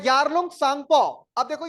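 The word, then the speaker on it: Tsangpo: बाद देखो द यारलंग सांगपो अब देखो य सांग है अब इसम अंग्रेजी में टी लिखा है टी तो साइलेंट होता है ऐसे कोई ंस ना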